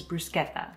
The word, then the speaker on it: bruschetta: wrong and i said i'm saying it like the italians say it which is brusqueta is that right anyway